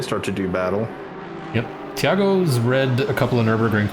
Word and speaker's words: Thiago: It's Thiago, but in Portuguese the H doesn't exist at all. So Thiago, like a CH? Is it Tiago or Thiago? if you just ignore the H, you probably pronounce it better.